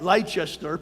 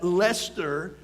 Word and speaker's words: Leicester: de física y astronomía de la universidad de leicester y se le trae light star' pero se pronuncia el estero en el este de inglaterra y estos estudios